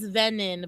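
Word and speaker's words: venin: It's venon by the way.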